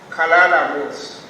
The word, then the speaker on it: Kalala Mos: The name is disturbing, but it is pronounced Kalala Mos.